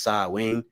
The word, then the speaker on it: Samhain: for a second okay psalm hein is the pagan religious festival originating from an ancient celtic spiritual tradition in modern times samhain a garlic word pronounced saw wing is usually celebrated from